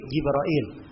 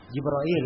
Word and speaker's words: Jibril: Dan dalilnya dari sunnah adalah hadis Jibril. Sini ditulis Jibril ya. Ya, sebab memang bacanya bisa 2, bisa dibaca Jibril, bisa dibaca Jibril. Bisa dibaca Jibril. Enggak ada bacaan yang lain.